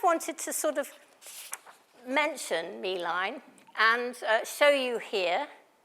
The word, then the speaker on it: Milein: all about I didn't realized she was not main me but mine so forgive me if I've been pronouncing it wrong Meine so I just wanted to sort of mention Meine and uh show you here such a sweetheart